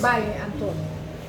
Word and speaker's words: Valle de Antón: I hope that's how you pronounce it correctly. Yes, it's Valle De Anton.